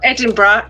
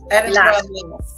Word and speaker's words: Edinburgh: You've got Edinburgh. It's the the last lassu. Edinburgh.